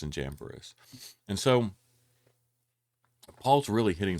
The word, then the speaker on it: Jambres: These teachers oppose the truth, just as I believe that is pronounced Janez and Jambres, or Jamburus, opposed Moses.